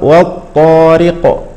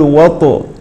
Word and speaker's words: والطارق: الغيب هكذا ننطقها كذلك مثال اخر والطارق والطارق ولا نقول وط وط لا كذلك مثال اخر ثجاجا